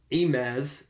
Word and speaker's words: Amaz: But something that Wizards did today regarding the Pro Tour is that they invited famous Hearthstone player and streamer Amaz, A-M-A-Z, I'm pronouncing that correctly, to the next Pro Tour, to Pro Tour Hour of Devastation.